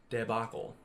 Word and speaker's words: debacle: That's how you spell it, and this is how you pronounce it, debacle.